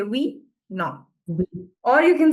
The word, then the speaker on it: oui: Oui. Nobody's going to say oui. Okay, it's oui.